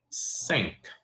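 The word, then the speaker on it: cinq: knows how to say five in French which is sink sink swe out sink c i n q sink pretty easy and let's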